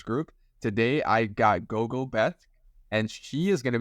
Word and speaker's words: Bethke: It's actually Bethke. The last name is pronounced Bethke.